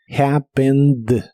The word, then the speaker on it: happened: termina con e d y no se pronuncia Esta última e solo la d happened happened en el pasado lo